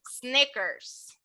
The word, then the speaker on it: Snickers: Snickers. So this one, hang on. Snack. This sneakers one, serían los tenis. yes. So this one Snickers. here, sneakers. This one here, Snickers.